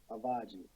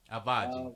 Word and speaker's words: Avodgy: Avodgy. Avodgy. Avodgy. When you think, just think about Versace, and then you got Avodgy.